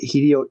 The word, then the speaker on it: Hideo: I uh for from the other day uh Hideio uh Hideio Hideono. I always said Hedonomo. I think that's how you pronounce that. It's more of a hi like right, not a he.